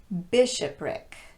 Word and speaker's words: bishopric: They're all stressed on the first syllable with the exception of the last one. Catholic, bishopric, politic, arsenic, lunatic, rhetoric, turmeric, and arithmetic.